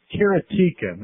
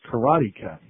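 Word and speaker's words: Karateka: talked about games in history is the famous kertia as I called it although I understand the proper pronunciation is karatica since I've called it karatica since the beginning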